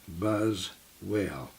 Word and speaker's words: Buswell: It ached very badly, enough that I'd scheduled an appointment with our dentist, Dr. Buswell, pronounced Buzzwell.